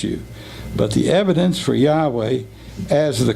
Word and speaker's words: Yahweh: did not impress you but the evidence for Yahweh as the correct pronunciation for the sacred name is at least